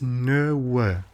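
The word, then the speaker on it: nöwë: I'm going to try and pronounce this. No way.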